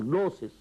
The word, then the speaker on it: gnosis: You spell it with G, gnosis, but it is pronounced as gnosis.